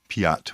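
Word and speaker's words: Piat: father Stefan Joseph P is spelled p i a t so father Steven Joseph Pat we would say in English who is one of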